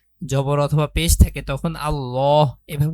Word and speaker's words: আল্লাহ: অথবা পেশ থাকে তখন আল্লাহ এভাবে উচ্চারণ হয়। মানে ল উচ্চারণ হয়। লা আল্লাহ শব্দকে পুর করে পড়তে হয়। পুর মানে হচ্ছে মোটা করে পড়া।